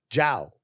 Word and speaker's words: Jiao: it spell yeah because you got a j-i but you pronounce it ciao Zhao to an American that